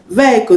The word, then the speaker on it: vehicle: honor is not pronounced vehicle the edge in vehicle is not pronounced so you don't say vehicle you say vehicle not vehicle vehicle the